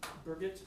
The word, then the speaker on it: Birgit: and Birgit, yeah, she's, It's like a backward Bridget.